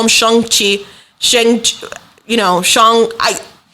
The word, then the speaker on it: Shang-Chi: in the 616 comic book universe people have pronounced it as shang chi and that's what jim starlin said just be